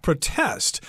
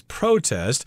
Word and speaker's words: protest: the word protest and as a verb this word is supposed to be pronounced protest but most people I know and most of the